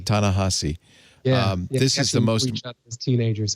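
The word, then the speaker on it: Ta-Nehisi: the world and me Tana how do you pronounce it on AHA C Tana hussy this is the most teenagers so I learned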